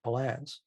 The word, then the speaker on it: Palance: mr hyde with jack palance i don't know if jack belance's name is jack belan so jack palance yeah i've been this i've been miss uh mispronouncing his name i'm sure everybody knows